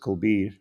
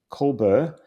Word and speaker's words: Colbier: And my first name is Colbier, pronounced Colbir. And the AI first pronounced it Colbert, but the second time in the next paragraph announced it Colbir.